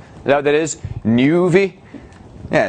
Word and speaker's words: Nuvi: That's how you pronounce it with there. That's an umlaut? Is that what that is? Nuvi?